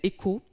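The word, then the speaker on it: ECOOH: On a développé une solution qui s'appelle ECO, qui permet à des tout petits acteurs, alors ECO ça s'écrit E-C-O-O-H comme out of home, et cette solution est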